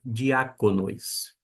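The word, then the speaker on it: διακόνοις: E a centuação está mostrando que a sílaba tônica é aqui. Não é no dia de não é no nós, né? Dia con nós, não é de dia de dia conis. Diconois, a pronúncia diáconois.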